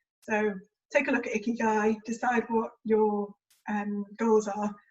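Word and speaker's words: 生き甲斐: If you're not sure what your goals are, take a look at the Japanese concept of ikigai. I probably butchered that pronunciation.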